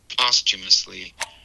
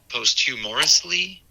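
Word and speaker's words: posthumously: Yeah, I I noticed an extra syllable there when I think you were trying to say postumously, but it sounded like you said posthumorously.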